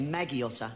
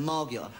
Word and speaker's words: Margiotta: They always say Maggiotta instead of Margiotta.